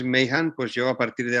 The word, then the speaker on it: Mahan: esencial es decir y yo decía mahan porque nunca sé cómo se pronuncian los nombres propios en inglés y tú dices que es my hand pues llegó a partir